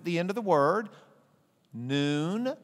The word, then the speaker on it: Nun: Noon, spelled like a nun, but we're Protestants, so it's noon.